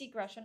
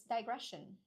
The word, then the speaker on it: digression: Is it degression or digress? I need to make sure. Let's see and check the pronunciation properly. It's digression. No, digression. Yeah, it's digression.